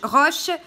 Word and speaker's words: Roche: enfants du juge roche roche comme ça se prononce r au ch e ensuite laurent lui elliott di